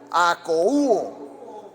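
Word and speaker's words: ἀκούω: verso viene del griego Cómo se lee eso akouo acoo con acento en la u es aco okay Y checa lo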